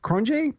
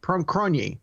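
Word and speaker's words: Cronje: Hansy Krunk Cron cron cron I think that's how they pronounce it from South Africa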